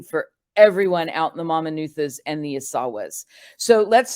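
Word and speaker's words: Mamanuca: which are called the mama nuthas and the asawas so again little little language lesson here so in Fijian the letter c is pronounced as a t h so it's the mama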